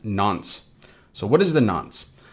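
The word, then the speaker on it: nonce: Now moving on from that we have this n pronounced nons.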